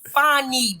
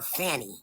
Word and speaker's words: Fani: all right you know it's Friday I'm feel fny baby fny and guess where she from no see she not from Georgia that's why y'all want to call her Fanny no no no no she's from cie which